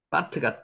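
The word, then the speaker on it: בַּת: 배트의 경강 지혀 있습니다 요게 원래는 배트 있으면 비인데 요게 강하게 읽으라는 뜻으로 쌍 비입니다 그래서 바트 이렇게 했습니다 요게 아 발음이 난다 그랬죠 바트 이해하시겠죠 바트 글자는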